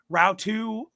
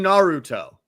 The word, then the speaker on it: Naruto: Now, Route 2, I'm so sorry if I butcher that. I did the best that I How could. did you mess up saying Naruto? How? It's 3 syllables.